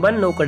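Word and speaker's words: knocked: When जब someone नॉक्ड eight door, इसको के साइलेंट होती है, नॉक्ड एट डोर, तब किसी ने दरवाज़ा खटखटाया।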